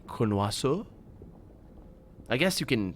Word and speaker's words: connoisseur: French doesn't create exceptions, as far as I know, anyway, to pronunciations. Like, if it's an OI, you always say wa. It doesn't matter. It's like, that's always So, and the R is not pronounced, so you say connoisseur.